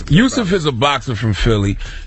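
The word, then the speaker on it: Yusuf: Mack okay now youf is it Yousef or USF it's spelled youf I'm sure it's Yousef is a boxer from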